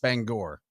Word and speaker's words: Bangor: Shelby Howal from Banger Maine. Of course. Bangor. It is Bangor.